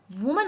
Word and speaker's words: women: और ये देखिए WOMEN लिखा हुआ है, इसको हम क्या पढ़ेंगे? विमेन। आई नहीं आ रहा है W के बाद देखिए, लेकिन फिर भी हमने इसका उच्चारण क्या किया है? विमेन। तो याद रखिए WOMEN का प्रोनाउंसिएशन क्या करेंगे? विमेन।